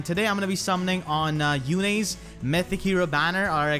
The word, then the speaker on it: Yune: So I think I'm going to stick with that, because Yune sounds like June, and it's not June yet, it's still March, so it doesn't make any kind of sense. I'm going to stick with Yune.